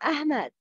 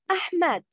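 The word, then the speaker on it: أحمد: Welcome, Ahmed. No, I am Ahmed, not Ahmed. It's ha, not ha.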